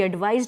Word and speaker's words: advised: She advised me to invest my money more carefully. So the first one has sa pronunciation, the second one has za pronunciation, that is Z.